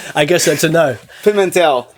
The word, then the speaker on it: Pimentel: Did I pronounce that right? Yeah. I guess that's a no. Pimentel. Pimentel.